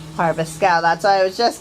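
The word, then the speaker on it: Arveschoug: That mess is pronounced Harvestcow. Harvestcow.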